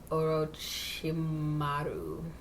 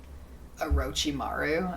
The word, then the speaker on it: Orochimaru: um we finally meet Orochimaru yeah I'm pretty sure because I've heard other people say Orochimaru I'm pretty sure that's how they say it in the dub I just kind of